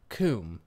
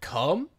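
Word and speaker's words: Kum: it's called or the actual place was called comb k-u-m and her dad was saying come he's just like brah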